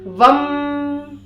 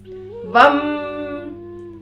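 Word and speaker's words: वं: करना है, यानी कि आपको म के उच्चारण पे ज्यादा फोकस देना है। आपको इसको ऐसे चैंट करना है, वम वम वम।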